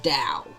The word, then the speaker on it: Tao: Which leads him to also go on some diatribe about Tao. Even though it starts with the T, it's pronounced Dow.